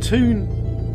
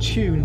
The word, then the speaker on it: Toon: Toon, not Tune City, Yolan. Toon, as in cartoon.